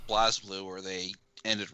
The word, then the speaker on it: BlazBlue: It's like, but it's BlazBlue. The Z is silent. Oh. It's supposed to be BlazBlue. Yeah. A silent Z? All right. Yeah, it's like Buru.